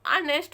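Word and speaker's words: honest: है ईमानदार ठीक है इसमें नेस्ट नहीं इसको नेस्ट पढ़ा जाता है एच को साइलेंट रहता है ओ से पढ़ना शुरू करते हैं तो ऑनेस्ट मतलब होता है ईमानदार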